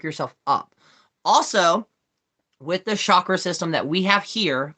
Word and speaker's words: chakra: sure when i pronounce chakras i actually tried to pronounce it as correctly as possible besides what i used to say which was chakra no it's chakra um which is one